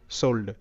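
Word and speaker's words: sold: এল ডি হোল্ড হোল্ড এস ও এল ডি সোল্ড সোল্ড তো এখানকার প্রত্যেকটি শব্দে কিন্তু ও এর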